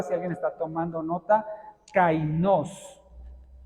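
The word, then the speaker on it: καινός: alguien está tomando nota cainos con k y acento en la o qué significa esa palabra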